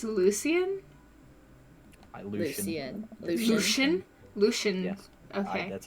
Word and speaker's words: Lucien: Lucian.